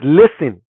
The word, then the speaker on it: listen: You could hear the T. You're not listening. She said that. It's listen. The T is silent. You don't say listen. You say listen.